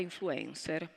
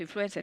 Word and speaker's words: influencer: Non è vero, l'accento influencer, c'era l'accento E grave che corrisponde più o meno, insomma, alla pronuncia inglese, quindi il dibattito era totalmente fuori luogo.